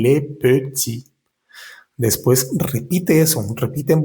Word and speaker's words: petit: Y le petit no pronuncias ni la s ni la t de la palabra est y la palabra petit no pronuncias la última t y le petit después repite eso.